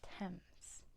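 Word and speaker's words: Thames: that is how you spell it it is pronounced TS um which Dutch artist painted star night uhuh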